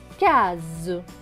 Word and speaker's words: case: Donc là, le S ne va pas se prononcer S, mais va se prononcer Z, parce qu'il y a deux voyelles, une avant et une après, le A et le E. Donc S et E, Z. Ce mot va donc se lire K-Z, case.